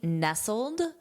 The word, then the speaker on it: nestled: This is the past participle of the verb to nestle, but here it's to be nestled, nestled.